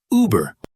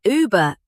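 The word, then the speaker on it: Über: Uber above over not uber like the app Uber. Wait, everyone calls it Uber. Everyone calls it wrong. The company is German. The word is Uber.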